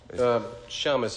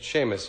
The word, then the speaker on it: Seamus: Shamus, if you're Jewish. Seamus is the correct pronunciation. Well, you know me. Seamus.